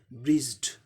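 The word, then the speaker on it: bridged: अब ज साउंड क्या है, ये वॉइस्ड है, इसीलिए इसका जो ईडी जो लगा है, ये इन्फ्लेक्शन पास्ट पार्टिसिपल, ये इसका उच्चारण ड होगा, ब्रिज्ड, ड।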